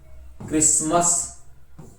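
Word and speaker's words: Christmas: फिर आगे देखो साइलेंट है टी, टी को किस प्रकार साइलेंट किया गया है, जैसे ऑफेन, ब्रिशल, बशल, बचर, ये बुचर बोल दो इसको, काश्ल, क्रिसमस, फाशन, ग्लिशन, हशल, listen, रशल, scratch, सोफेन, watch, we shall और विच।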